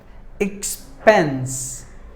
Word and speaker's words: expense: And word number 7, expense. Expense. There are 2 syllables in this word. Expense. Spence should be given more volume.